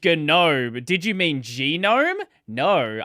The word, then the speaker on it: GNOME: But the hard G in GNOME, which mm, is 100% correct, um, there are ways to solve that problem as well.